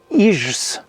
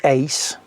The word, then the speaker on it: ijs: À titre d'autre exemple, la glace qui se dit ice en anglais, elle s'écrit IJS en néerlandais, mais on ne dit pas IJS, on dit ice. Donc IJ, ça se prononce ei.